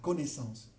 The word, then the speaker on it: connaissance: Estas S ahora no se pronuncian y bueno, el verbo connaître ha variado mucho. Aquí habría que pronunciar la connaissance, no se pronuncia más desde hace más de 200 años aproximadamente. Esas formas arcaicas han desaparecido y lo que tenemos hoy día en el francés moderno es la connaissance, ¿okay?